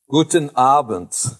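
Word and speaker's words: Guten Abend: not really that loud okay well good evening guten abent is how you say it in deutschland got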